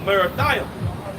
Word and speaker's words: Merathaim: Verse 21, go up against the land of Merathaim. That's how you pronounce it in the Hebrew as well.